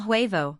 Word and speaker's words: huevo: El huevo, the H is silent.